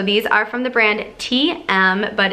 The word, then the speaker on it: TIEM: spin shoes so these are from the brand TM but it's spelled T I am pronounced TM and these are just they're black cycling shoes